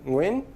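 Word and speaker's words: Nguyen: sing and also at the beginning of the vietnamese name win if you pronounce it right but i i didn't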